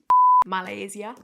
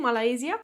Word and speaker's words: Malaysia: next trauma, stay safe malaysia malaysia malaysia malaysia I said wrong all the video malaia malaia I think I said it right